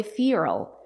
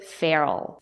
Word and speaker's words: feral: remember in American English native speakers do not say FAL they say feral if you want to